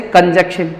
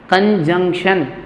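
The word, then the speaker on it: conjunction: न का sound, N का साउंड आएगा यहाँ पर। कई बच्चे पढ़ते कंजक्शन, कंजक्शन है सर ये, कंजक्शन। कंजक्शन नहीं है ये, क्या है? कंजंक्शन। क्या है ये? कंजंक्शन। इसको कंजक्शन नहीं बोलते, कंजंक्शन बोलते हैं, ठीक है।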